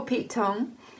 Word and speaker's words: Pete Tong: Poor Pete Tong. It rhymes with wrong.